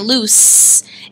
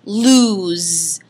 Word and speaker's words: loose: But what you want to make sure that you do is you do not pronounce this word lose. It's not the word lose, like you're going to lose the game. That lose is spelled L-O-S-E.